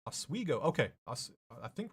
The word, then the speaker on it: Oswego: I would say Marcin, it's pronounced Oswego. Okay, I think right, Oswego.